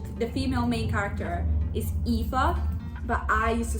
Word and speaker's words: Aoife: The female main character is Aoife, but I used to say Eve, so I think I'm gonna keep calling her Eve because I called her Eve.